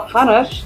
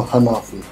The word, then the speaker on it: Hanafi: Now, we've got one guest we're going to first talk to, who is Dr. Daniel Hanash. Is that how you say it? No, Hanafi. Hanafi, I'm sorry.